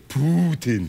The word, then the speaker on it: Putin: I like to say Putin.